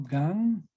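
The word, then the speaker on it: גן: nunca no queden entonces en hebreo esto suena como gan vamos a darle a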